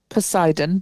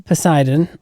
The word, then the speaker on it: Poseidon: Poseidon. Poseidon. Okay. So, it's how it's spelled.